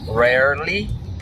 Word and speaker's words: rarely: Começa com som de U, né? O rare, rare, rare, o rare. Mas é bem rápido, né? Rarely, rarely, rarely. É a junção da palavra rare mais o li. Rarely.